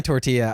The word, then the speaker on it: tortilla: weight or tio or Tortola Tortola its sortir dude it's definitely tortilla I just like saying